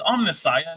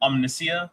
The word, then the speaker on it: Omnissiah: It's omnissiah, not omniscia.